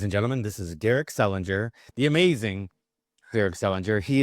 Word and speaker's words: Selinger: your last name yeah in North America it's hard G yeah all right well there you go ladies and gentlemen this is Derek Selinger the amazing Derek Selinger